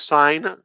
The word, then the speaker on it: sign: I thought the G is not pronounced because, you know, it's like sign or okay.